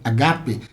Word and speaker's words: agape: da nossa carreira e tudo isso sem agape agape a pronúncia é essa mesma Tá bom vou deixar